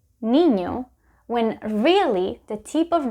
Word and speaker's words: niño: So this is a sound that does not exist in English, but it is not difficult to pronounce at all.